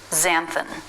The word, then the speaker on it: xanthan: It can be a Z sound. This happens in 2 cases. First, when it starts a word. 2 examples, xanthan.